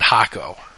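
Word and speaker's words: Jacó: next to a town spelled the same name the same way j-a-c-o and everyone calls it hako who the [ __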